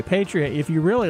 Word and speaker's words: Patreon: Or is it Patreon? I think it's Patreon. Okay, Patreon.